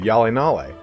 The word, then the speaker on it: HjalleNalle: He told me it is called, that's how you pronounce it, HjalleNalle.